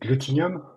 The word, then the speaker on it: Glutinum: So, I pronounce it glutinium like with a liking word. It's a coming from the glue.